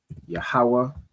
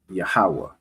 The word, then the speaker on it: Yahweh: Next word, Yahweh. So ya, ha, and then this one, the ha, would be joined. All right, so let me get the joiner one. Right? Yahweh.